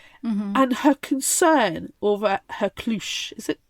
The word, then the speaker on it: cloche: make to up the your own internet, it's pronunciations. It's cloche.